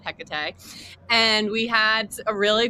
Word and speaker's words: Hecate: Yeah, we had we talked today about Hecate Mhm. or Hekate. We were like trying to decide on pronunciation, but we decided Hecate.